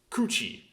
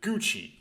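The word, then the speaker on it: 口: it would be pronounced coochie um if you stick it in a compound word as the second entry of the compound word the Japanese people tend to get lazy and pronounce it Gucci um they like to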